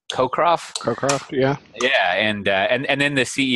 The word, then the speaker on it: Cockcroft: Cockcroft, yeah.